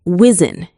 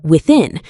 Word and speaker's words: within: You're replacing it with S or Z, saying things like whizzin instead of within, and southern instead of southern.